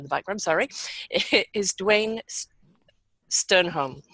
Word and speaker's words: Stjernholm: background, sorry, is Duane Stjernholm. He actually has a Danish name, but we're not pronouncing the J, so no offense to any Danish people out there.